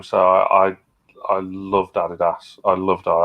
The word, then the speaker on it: Adidas: I knew this was going to come up at some point because of your American heritage, Steve, but it's pronounced Adidas.